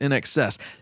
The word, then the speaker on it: INXS: in excess man INXS you pronounce it in excess that's Innovative as but